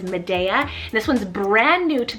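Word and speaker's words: Mideya: name madea cell m-i-d-e-y-a now spanish-speaking it's probably pronounced a little bit different but i would probably pronounce it as medea this one's brand new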